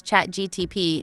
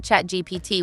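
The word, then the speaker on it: ChatGPT: Kimmel chuckled Don Jr hilariously mispronounced the AI chatbot name as chat GTP not chat GPT what a mix up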